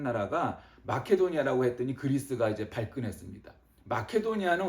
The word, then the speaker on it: 마케도니아: 말씀이 데살로니가는 어떤 곳이냐는 마케도니아 성경에는 마게도니아 나와 있지만 우리가 현 현대적인 발음을 하는 마케도니아 그리가 마케도니아는 뭐 알렉산더